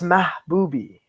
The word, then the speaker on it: Mahboubi: It's Mahboubi. Mahboubi. Yeah, see? It still sounds like my booby.